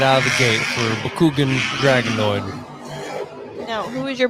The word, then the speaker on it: Bakugan: If you couldn't understand what Austin said, it's Bakugan.